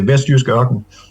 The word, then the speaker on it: Vestjysk Ørken: Vestjysk Ørken. Yeah, it's really complicated. I know how to pronounce.